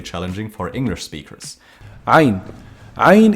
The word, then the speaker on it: عين: عين Ayn is pronounced from the middle of the throat.